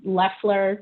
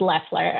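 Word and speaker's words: Loeffler: is i'm kelly lesler you have to forgive me if i mispronounce them names because i i do not watch american cable news i just read a lot of american news but i believe it's leffler um so she um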